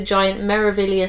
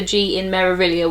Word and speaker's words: Meraviglia: you can see the giant marilia spelt out on the side with a silent G you don't pronounce the G in marilia which took me quite